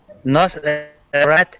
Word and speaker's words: Nasrat: Nos, Nos, rat is the, I think it's Nosrat. Oh, I The missed a last. syllable. I missed a syllable. So the second syllable gets stressed, correct?